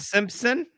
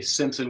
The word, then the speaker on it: Stimpson: What have you heard for your last name instead of it being pronounced the way it is with the T there? Stimpson?